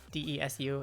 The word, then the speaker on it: desu: word so for example you know how desu d-e-s-u is actually just pronounced desu or masu is actually known as moss i can see that